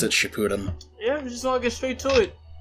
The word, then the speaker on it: Shippuden: I think it's actually pronounced Shippuden, but people also pronounce it Shippuden.